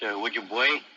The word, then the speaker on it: Ojibwe: The Ojibways, pronounced Ojibwe, the Crees, and the Sotu were among those MacDonnell encountered by the River of Death.